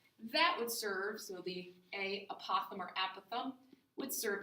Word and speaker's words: apothem: plan so some vocabulary and apothem sometimes pronounced at both thumb is that perpendicular segment